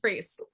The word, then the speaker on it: Frese: of all first question are we pronouncing your name right you are you got it you nailed it freeze okay all right so